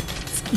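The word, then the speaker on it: 杵築: キツキのことね、はいはいこれ、あ、キツキって読むんですよこれ読めない。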